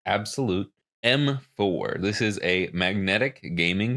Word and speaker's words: Abxylute: Yes, it's pronounced Abxylute M4.